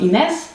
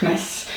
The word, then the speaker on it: Agnes: the way um so my Spanish teacher told me that my name Agnes in Spanish is would be pronounced iness no clue if that's true but it's better honestly I prefer iness over the way that Dutch people pronounce my name which is just an awful aess so I'll stick with